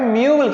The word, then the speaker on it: mule: ये मूले नहीं लिखा हुआ है, ये लिखा हुआ है म्यूल।